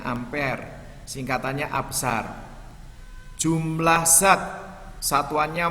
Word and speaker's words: ampere: arus listrik satuannya ampere tulisannya ampere Tapi bacanya ampere singkatannya abshar jumlah zat